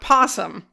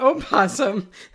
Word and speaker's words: opossum: possum not jesus not possum i've been talking about opossum the entire submission in north america we have opossums but it's okay if you don't pronounce the first o great okay so apparently